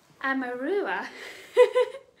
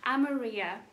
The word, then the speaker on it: Amaurea: of gondor um um amarua i was struggling to pronounce that the the colorway name for this one amaria there we go wow and it has